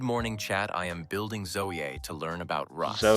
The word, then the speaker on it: Zoea: I think it's like zoe. Zoey, I think is how you pronounce it, actually.